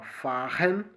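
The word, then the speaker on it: fahren: tudo agora né mas ele pronunciou a palavra faren e você pode perceber que é apenas um r e tem e já tem o som de dois RS né como acontece no português no meio da palavra se tiver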